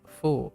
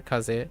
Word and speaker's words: 風: As a compound structure, this suffix is always pronounced fu, never kaze, the standard reading of kaze.